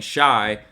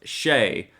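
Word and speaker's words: Shai: this weekend and apparently or i've been saying shy but apparently it's pronounced shay so shea is another one to take a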